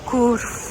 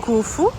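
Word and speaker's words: Khufu: Now we're going to see the solar boat, Curfu's boat. Cuf.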